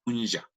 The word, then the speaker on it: puncha: Pero hay ciertas excepciones que, como en este caso, puncha, apunja, debería ser con SH, pero la pronunciación que nosotros usamos acá es con SH, punja.